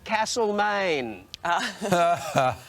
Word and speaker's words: Castlemaine: me alex and sj there is no r in castle maine will you do whatever